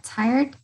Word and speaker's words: tired: También la pronunciación de tired, ¿no? Suena como una D al final, no pronunciamos la E, sería tired.